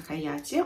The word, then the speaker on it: Hayati: Правильно так, по-моему, произносится Хаяти.